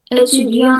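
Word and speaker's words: étudiant: Eudion itu eh bahasa Perancisnya dari eh siswa studen EU. Huruf T terakhir tidak dibaca jadi cuman EU.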